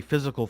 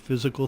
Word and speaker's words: FYZICAL: Mitch who's a physical therapist and dr.